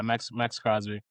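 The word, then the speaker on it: Maxx Crosby: Am I saying his name wrong? Max Crosby. Max Crosby. Is that his name? Max Crosby. Yeah, Max Crosby.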